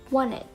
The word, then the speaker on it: wanted: Then we have wanted, wanted, instead of wanted, wanted.